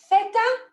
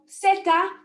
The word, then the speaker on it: zeta: So, we're going to pronounce this either theta, if you're from mainland Spain, or zeta, if you're from Central and South America.